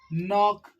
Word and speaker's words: knock: word will be silent the letter K will be silent okay clear for example we know very much like no yes and net yes knock yes many examples are